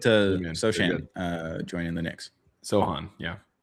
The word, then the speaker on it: Sochan: Sohan, yeah. Sochan.